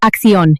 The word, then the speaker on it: acción: The accent mark over the letter O means you must punch that last syllable. It's not acción, it's acción. Hear that rhythm? Opción. Preparación. You are shifting the entire weight of the word to the very end.